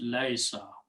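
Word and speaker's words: ليس: And this ya for e, instead of pronouncing laisa, it's easy to pronounce if we change this to a sukoon. So this becomes laisa.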